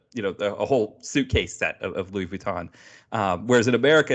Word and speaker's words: Louis Vuitton: It's like Louis Vuitton. I try to say it right but the French way. In America they call it Louis Vuitton, but it's instead of Vuitton.